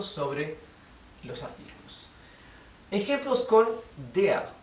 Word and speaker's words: der: La terminación vocal, la terminación ER en alemán se pronuncia EA. EA, ¿bien? O con una R apenas perceptible. Por lo tanto, der, ¿sí? En alemán se pronunciaría der, donde pueden pronunciar la R apenas perceptible, o si no, simplemente no la pronuncian, que suena casi igual.